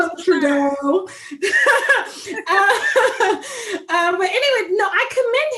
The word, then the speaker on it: Trudeau: So I commend fine behind Prime Minister Trudeau.